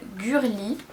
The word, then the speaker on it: Gurli: Ouais, il s'appelle Gurli, G-U-R-L-I quoi, comme ça se prononce.